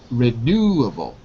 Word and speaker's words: renewable: Say renewable. Renewable. That's renewable. it. Second syllable, renewable.